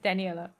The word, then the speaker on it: Daniela: You're pronouncing it great. It's Daniela.